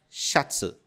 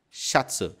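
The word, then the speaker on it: シャツ: palavra que significa camisa ela é dita xats chats e ela é derivada do inglês shirt ela tem a letra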